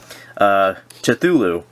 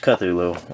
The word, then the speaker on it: Cthulhu: Cthulhu properly until recently I've always pronounced it to tulu but apparently it's pronounced Cthulhu I don't even know